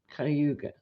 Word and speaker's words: Cuyahoga: It's spelled Cuyahoga, but I think it's pronounced Cayuga.